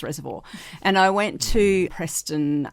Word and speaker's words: Reservoir: Um I I lived we lived in Reservoir, which some people my mother tries to tell me you pronounce it Reservoir, but if you live in Reservoir, it's Reservoir.